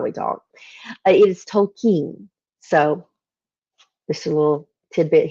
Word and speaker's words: Tolkien: it all my life wrong it is not Tolkien how I pronounced it because I'm a southerner and that's how we talk it is Tolkien so just a little tidbit hint there in